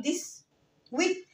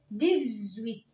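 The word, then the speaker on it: dix-huit: طب رقم 18 الإكس هنا هتقع ما بين دو فويل الأش والإي، فهقول هنا إيه؟ مش هينفع أقول ديس ويت، هقول ايه؟ ديزويت، ديزويت، ديزويت يعني رقم 10.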